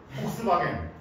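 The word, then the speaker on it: Volkswagen: BMW, 벤츠, 폭스바겐, 폭스바겐. 폭스바겐은 뭐가 달라요? 아 이게 폭스바겐이 이렇게 하거든. 뭐. F랑 V랑 발음을 중간으로 하는 거래.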